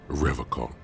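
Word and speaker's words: Revachol: forever call he pronounces rivercon with a hard k unlike other people serious question time this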